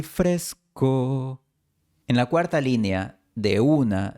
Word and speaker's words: de una: En la cuarta línea, de una se pronuncia en 2 sílabas.